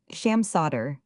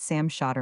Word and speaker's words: Sam Shotter: Sham Sotter. If you prefer it that way, certainly I've always pronounced it Sam Shotter myself.